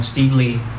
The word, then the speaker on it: Stevely: many of you might people forget that it's pronounced Lee and you know I'm